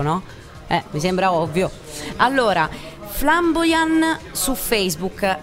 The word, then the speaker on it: Flambojan: Allora, Flamboyan su Facebook, la J, mi raccomando, la pronunciamo Y, ma si scrive J.